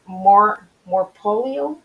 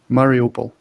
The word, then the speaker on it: Mariupol: And Kate is one of the story heroes, and she is from Morpolio. I want to say it right, Mariupol.